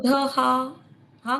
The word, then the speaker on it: क्रोधहा: क्रोध क्रोध कृतकर्ता क्रोध क्रोधहा का उच्चारण दीर्घ करना है।